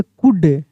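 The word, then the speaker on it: could: एल के साथ डी रहेगा तब भी एल साइलेंट रहेगा। सी ओ यू एल डी। क्या पढ़ेंगे? कुड।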